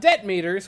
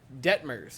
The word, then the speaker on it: Detmers: The Angels will send, and I'm going to get it right because I don't believe I have ever pronounced his name correctly, Reed Detmers to the mound. Not Debt Meters, which I've said a lot.